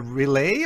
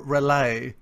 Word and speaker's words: Relai: know how to pronounce it's a relay or rely everybody has his own version I like relay but some people say you know probably depends